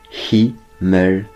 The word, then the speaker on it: Himmelweg: ça se prononce qui mêle avec qui me veut dire ciel avec ses